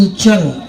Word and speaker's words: উচ্চারণ: আরে ভাই উঁচু নিচু নয় বলুন উচ্চারণ।